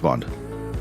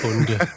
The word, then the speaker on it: Bonde: Is it Bonde or Bond? Like James Bond? I would really prefer Bond, but it's really Bonde.